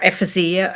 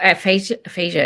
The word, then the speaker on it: aphasia: symptoms like disorientations or ephysia aphasia is the right pronunciation um and what